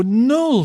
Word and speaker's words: nul: So remember the pronunciation from an English speaker's perspective. So nul, that is the first one.